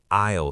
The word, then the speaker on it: aisle: Or, can I have an aisle seat, please? An aisle seat. That's the seat next to the walking path, right? A-I-S-L-E. The S is silent.